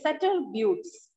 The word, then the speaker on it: Sutter Buttes: The pronunciation is Sutter Buttes.